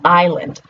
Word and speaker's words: island: English word, or the English pronunciation of that word is island.